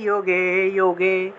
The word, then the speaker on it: যুগে: च दुष्कृतां धर्मसंस्थापनार्थाय সম্ভবামি যোগে যোগে। এই যে যুগে যুগে আছে না, সম্ভবামি যুগে যুগে আছে, এটা উচ্চারণ হবে যুগে যুগে। সম্ভবামি যোগে যোগে, যুগে যুগে থাকলে যোগে যোগে হবে, অর্থাৎ যে জায়গাতেই জ